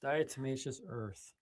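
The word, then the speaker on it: diatomaceous earth: Dietmacious Earth. Dietimmacous Earth.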